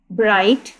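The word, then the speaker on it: bright: जैसे ब्राइट बी आर आई जी एच टी ब्राइट यहां पर हमारे पास जीस जो है ये हमारे पास पास यहां पर क्या है? साइलेंट लेटर है।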